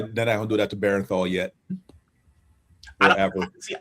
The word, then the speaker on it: Bernthal: old when I realized I've been saying his name wrong and it's Bernthal. Cuz I've been saying Bernthal like b e r e n t h a l and it's Bernthal.